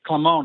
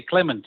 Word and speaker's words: Clement: I'm aishi Dutch and the Dutch people would would never say clemon they would say Clement and I'm sure he's from Anor which at the Dutch speaking area they would say Clement as well well but